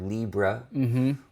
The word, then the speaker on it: libre: So sometimes I will add the word libre, which is a French or Spanish word pronounced as if it were English.